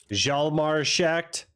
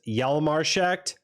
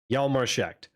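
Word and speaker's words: Hjalmar Schacht: It's not Jalmarschacht. It's Jalmarschacht. The J is like a Y in German, but the H is silent either way. Jalmarschacht.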